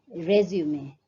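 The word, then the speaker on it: résumé: And what you will find is this is a three-syllabic word, resume. So the stress is more on the first syllable, resume, whereas when the same word used as a verb, it is two-syllabic, resume.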